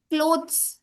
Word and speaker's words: clothes: pronounce the whole thing clothes we say but it's actually clothes right? We are not pronouncing T and H like we do but it's really soft right?